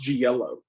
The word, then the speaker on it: giallo: at the airport back in the day actually pronounced G yellow uh also we just want you guys